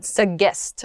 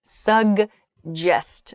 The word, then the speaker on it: suggest: of this word it's suggest so there's a g sound and then it's followed by a j sound suggest quickly happens there